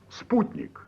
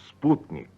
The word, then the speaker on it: Sputnik: thank and we'll begin I'll start by pronouncing a few well-known Russian names and words in the way a Russian pronounces them please repeat after me Sputnik Sputnik good now try samavar